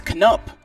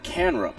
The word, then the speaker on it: Canup: pronunciation correction lindsey smathers the pitcher's name is canup not kanrup so thank you for that